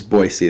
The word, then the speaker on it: Boise: But yeah, it's Boise. That's how we say it here in the U.S.